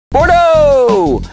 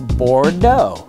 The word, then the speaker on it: Bordeaux: example bordeau right no drop the X and it's bordo Bordeaux and I have